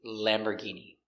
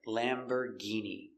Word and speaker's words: Lamborghini: Our first one is Lamborghini. Lamborghini. We see it's not or, it's Lamborgh. And the G makes a hard G sound. Lamborghini.